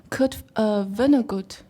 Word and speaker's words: Vonnegut: Kurt Vonnegut.